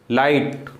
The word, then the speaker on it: light: For example LIGHT, लाइट, ठीक है ना, GH का कोई साउंड नहीं।